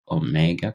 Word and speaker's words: Omega: about your latest book Omega course yeah okay so for people who are watching our video rather than listening this is the home British pronunciation is Omega so excuse me if I say Omega yeah Oma the Omega